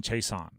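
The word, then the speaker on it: Chaisson: pronunciation of his name think about it like he's chasing the quarterback K Leon Chason cbon chaon okay big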